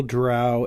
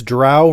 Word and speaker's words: drow: i think it r since drow rhymes with owl and the attitude of